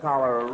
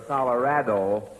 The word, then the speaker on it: Colorado: correct and of course you notice I said Colorado instead of coloro or Colorado because I was told here to say that say it that way or not at all so it's Colorado with